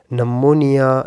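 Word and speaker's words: pneumonia: या scientific terms के related, जैसा कि साइकोलॉजी, नमोनिया एक्सेट्रा। पी यहाँ पे साइलेंट है।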